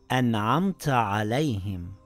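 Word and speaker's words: أَنْعَمْتَ عَلَيْهِمْ: letters of idhar, then you pronounce the noon or tanween clearly without ghunna or ikhfa. For example, it says, an'amta alayhim. I didn't say an'amta alayhim with ikhfa or ghunna.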